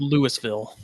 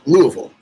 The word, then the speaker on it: Louisville: It's pronounced Louisville. Okay, Louis. No, it's Louisville.